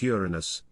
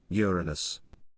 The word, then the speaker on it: Uranus: it into the unfortunate Uranus it's actually meant to be pronounced with the emphasis on the first syllable Uranus while this fall change